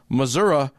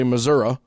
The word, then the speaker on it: Missouri: here I found that to have the stereotypical Missoura accent you must have you must be two things born and raised in Missouri or a shared border state and above the age of 50 ah pretty much anyone from Missouri with those two things under their belt will say Missoura uh but anyone with